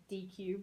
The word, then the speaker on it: Deque: that builds this, they're a company called DQ, based here in Virginia as well. DEQUE is how you spell that.